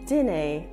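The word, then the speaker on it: dinnae: A significant feature of this accent is that in negative sentences, the auxiliary verbs such as do, did, and will merge with the word know and are pronounced as dinne and winne.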